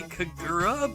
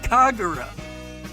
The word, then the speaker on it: Kagura: I keep wanting to say Kagura, but that's not how it's pronounced. Kagura.